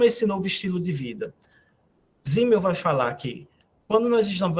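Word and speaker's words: Simmel: Zimmel, que é um outro clássico, a gente pronuncia Zimmel como se fosse um Z.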